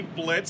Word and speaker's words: Blitzo: Hi, this is me, Blitz, from Helluva Boss. The O is silent, alright?